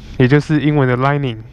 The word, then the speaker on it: 來令: explaning a Chinese term, Lai-Lin, hence subtitle doesn't make much sense) Not quite sure how that came to be anyway, that's why it's called lai-lin, similar to the pronounciation of lining.